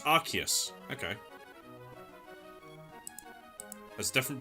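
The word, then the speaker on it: Arceus: So, there is a there is a British English and an American English pronunciation. So the British English pronunciation is Archus and apparently the American pronunciation is Arus.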